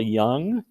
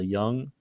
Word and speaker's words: Jung: first person is carl young i know his name is spelled with a j but you pronounce it with a y sound carl jung he is known as